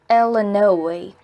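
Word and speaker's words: Illinois: shouted the l9 Stateline he pronounced oh no II Ella no II exactly the same way everyone in by banks can turkey pronounced it and hearing that Ella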